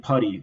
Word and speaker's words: Putty Annixter: It's spelled putty as literally loving putty, that other people were, they were putty in his hands, but it was always pronounced putty.